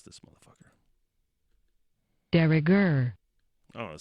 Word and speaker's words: de rigueur: De rigueur. Oh, it says a little de rigueur. Okay. Meanings and examples. The emphasis is on gur there.